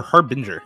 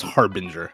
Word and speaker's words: harbinger: match today is it is it Harbinger or Harbinger it is Harbinger I've been saying it wrong this whole time I've been saying it